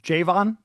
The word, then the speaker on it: Javon: Javvon is how you pronounce it? Yeah, that's how you pronounce it.